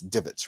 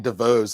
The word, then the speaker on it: divots: Help Maya, and you help me with the pronunciation. It's divots, right? Yes, Jamal. Divots. A divot. Look, I was saying DeVos last year this time.